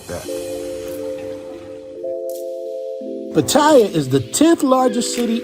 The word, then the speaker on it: Pattaya: And just so you guys know, the proper way to say it is Pattaya, not Pattaya. But Americans say Pattaya, but it's really Pattaya.